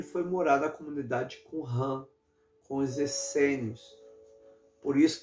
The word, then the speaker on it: Qumran: Qumran é uma comunidade, a pronúncia certa é Qumran, é uma comunidade junto ao Mar Morto, né?